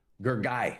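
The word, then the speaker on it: Gergely: It's his opponent Gurgaly Cantor. Gergy. That's how you pronounce it. Gergy. Gergy. Gregory, but Hungarian.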